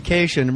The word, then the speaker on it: Kashian: Jackie Kashian rhymes with vacation.